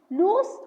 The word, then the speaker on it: loose: Lose with a single O means to misplace or fail to win. It has a Z sound, like don't lose your keys. Loose with the double O means not tight. It has a soft S sound.